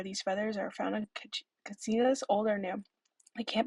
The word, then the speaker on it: katsinas: has a wall of katsinas on display. They are sometimes referred to as kachinas, but as Hopis provided a pronunciation of the name, as the CH sound is not part of their dialect.